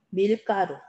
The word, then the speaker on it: 밀가루: 자, 다음 밀가루. 얘도 된소리가 일어나는 이유가 이 가루가 밀에서 온 거야. 밀이라고 하는 기원이 있기 때문에 밀가루 이렇게 된소리가 일어납니다.